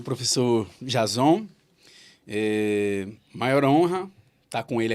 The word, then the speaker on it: Jazon: Comigo aqui na mesa está o escritor Sacolinha e o professor Jason Silva de Souza. Pronunciei certo, professor? Jason? Certo. Certo, beleza.